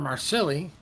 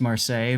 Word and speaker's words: Marseille: Interesting that Throw is sending their Gdansk after a Marsilli. Yep. And yes, we know it's pronounced Marseille, but we pronounce it Marsilli.